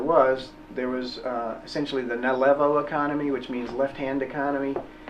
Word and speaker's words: Nalevo: Nalevo, N-A-L-E-V-O.